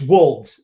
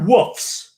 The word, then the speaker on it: wolves: First of all, it's wolves, not woofs. It's wolves. Pronounce it right. What wolves. Wolves or woofs? You keep on saying woofs. It's WOLVES. There's no F in there.